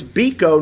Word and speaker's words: Biko: but there's the thing so it's B Co not Bible right here's another thing